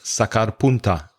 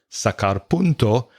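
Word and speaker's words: sacapuntas: podcast about stationery to sharpen a pencil is sakarpunta a lapis in spanish not sakarpunto which is what i said and angelica said sakarpunto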